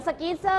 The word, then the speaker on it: scissors: คะ กรรไก นะ คะ ตัว นี้ C นะ คะ จด ไว้ จด ไว้ จด ไว้ ไม่ ออก เสียง สกี เซอร์ นะ คะ นัก เรียน